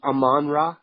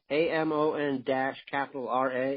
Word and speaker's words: Amon-Ra: So it's Amon-Ra, AMON-R-A. It's pronounced Amon-Ra? That's what I've been saying.